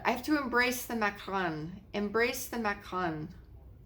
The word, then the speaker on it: macaron: I have to embrace the macaron. Embrace the macaron. Macaron, not Macron. He's the president of France.